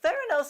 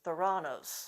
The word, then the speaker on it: Theranos: clunkiness to it but theranose is not all that slick or intuitive i heard several reporters mispronounce it as thoranos so neither the therapy